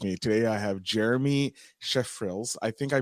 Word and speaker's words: Schreifels: Today, I have Jeremy Schreifels. I think I pronounced it properly. I should have asked you before. I keep forgetting to ask how to pronounce last names. Okay. It's German, so it's Schreifels. Schreifels.